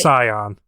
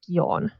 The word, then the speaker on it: Scion: do you pronounce that i'm pretty sure it's scion yeah like like the car yeah no because i remember because in the 20th anniversary game um uh keely horse pronounced you pronounced it as yawn okay i think she